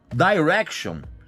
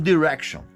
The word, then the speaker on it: Direction: Ah, Direction na pronúncia original da Inglaterra. Porque nos Estados Unidos o pessoal fala One Direction. Você escolhe a melhor maneira.